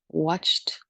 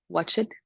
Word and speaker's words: watched: for them to pronounce because they pronounce all the letters. For example, looked, watched, worked. This is what I usually hear. Look it, work it, watch it.